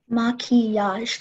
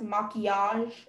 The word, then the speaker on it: maquillage: Maquillage. Can I please have all the information? Sure. The word can be pronounced maquillage, maquillage, maquillage, maquillage.